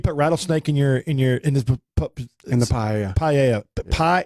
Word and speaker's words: paella: Paella. Pie. It's called paella. Paella. Okay. That's how it's pronounced.